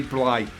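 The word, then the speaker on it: Blythe: Right, granted, what they're doing is surprisingly technical on the guitar, challenging on the drums, and Randy, how we pronounce his surname? Randy Bly. Randy Bly, yeah.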